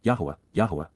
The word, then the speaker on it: Yahowah: even before and near, Yahowah, the proper pronunciation of Yahowah, God's personal and proper